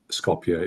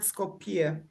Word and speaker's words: Skopje: I did practice pronouncing it properly because it's not Skopje, is it? It's It comes from the Greek word Skopje.